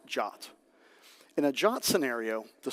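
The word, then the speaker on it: JWT: And one solution to that problem is JSON web tokens pronounced jot.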